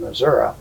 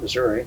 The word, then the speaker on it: Missouri: and I told him Missouri, which is the correct way he would pronounce it, not Missouri, Missouri.